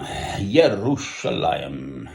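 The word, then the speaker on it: ירושלים: Yerushalayim is the way of pronouncing it if you're Jewish.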